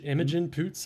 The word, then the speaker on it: Imogen Poots: getting confused speaking of which how do you pronounce her name emogen poots image imogen poots i guess emojin poots she she is very